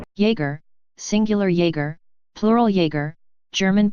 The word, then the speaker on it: Jäger: Jäger, singular Jäger, plural Jäger, German pronunciation, is a German military term that originally referred to light infantry, but has come to have wider usage.